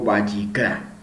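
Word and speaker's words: ויקרא: Levítico, cómo se llama, cómo se dice en hebreo, y aquí sabemos lo que anteriormente se llamaba como Torá Kohanim, ¿sí? Sacerdotes, instrucciones para sacerdotes, y hoy en hebreo lo conocemos como Vayikra, ¿sí?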